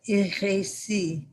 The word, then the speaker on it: RSI: Lacan, at the end of his teaching in the 70s, he wrote a seminar called RSI, which pronounced in French is heresy, hérésie, R-A-C, hérésie, heresy.